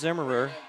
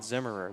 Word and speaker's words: Zimmer: the right fielder, Bryce Zimmerer, for the Plainsmen. The top of the third inning. First pitch outside. Now, I apologize. I've been saying his last name wrong. It is just Zimmer and not Zimmerer.